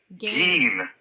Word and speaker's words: Gein: Ed Gein, because I cannot listen to you mispronounce his name. Oh, no. What did we say? His name is Ed Gein. Oh, Gein.